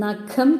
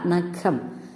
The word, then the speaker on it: നഖം: ഖ എന്ന് ഉച്ചരിക്കുന്നത് അപ്പൊ നഖം എന്ന് ഉച്ചരിക്കുമ്പോൾ ആ ഖരത്തിന്റെ ഉച്ചാരണത്തിന്റെ കൂടെയാണ് നമ്മൾ ഹ ചേർക്കുന്നത് അപ്പൊ ക യുടെ ഉച്ചാരണത്തിനാണ് പ്രാധാന്യം കൊടുക്കുക അതായത് ഖ നഖം അതേസമയം മേഘം എന്ന് പറയുമ്പോൾ